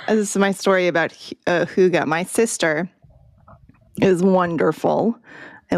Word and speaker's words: hygge: I looked this up yesterday for how to pronounce it. Huga.